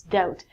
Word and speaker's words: doubt: next one is doubt it looks like TT it's not the Batu it's doubt when you doubt something